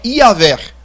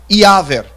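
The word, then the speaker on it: Iavé: Outras pessoas acreditam que a pronúncia exata do nome de Deus é Iaver, né, ou Iaver, né? Então, existe um grupo de pessoas que defendem que Iaver seria a pronúncia mais exata do nome de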